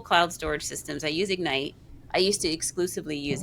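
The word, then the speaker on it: Egnyte: So, I highly recommen re recommend Ignite and it's spelled Eg Ny T.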